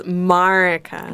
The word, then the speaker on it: Marieke: It's Marieke.